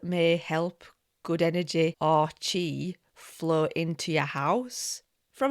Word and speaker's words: chi: Best described as essential energy aka chi. I always want to say chai because it's ch hi, but it's chi that rhymes with ti.